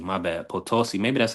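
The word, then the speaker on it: Potosí: So, Arena Calo San Luis Posiso San Louis Potosi. My bad. Potosi. Maybe that's how you pronounce it.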